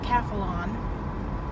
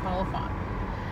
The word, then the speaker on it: Calphalon: my new frying pans Calphalon Chrissy reminded me that I kept saying it wrong on yesterday's video call upon I kept I think I keep saying qualified anyway my new hands